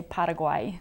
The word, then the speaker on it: Paraguay: really pronounce it right you just say Paraguay because that is like a Spanish version yeah Paraguay is the actually awesome